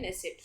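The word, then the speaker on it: Knesset: नेसेसिट। ठीक है? इसमें के जो है साइलेंट है। लेकिन आपको के वाला ही लिखना है।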